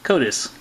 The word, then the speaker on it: Kodysz: And he even pronounced it Kodysz, just like the internet said it was.